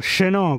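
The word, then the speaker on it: Chenaut: Miren al lugarcito que nos vinimos, a Chenault, o Chenault, como se pronuncia en francés.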